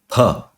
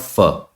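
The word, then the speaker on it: फ: But in Sanskrit, this is pronounced as pha, pha. The sound should emit from your lips, pha, not fa, pha.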